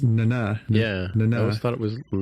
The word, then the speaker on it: Nana: that took me by surprise was how to pronounce Nana Visitor's name. It's Nana.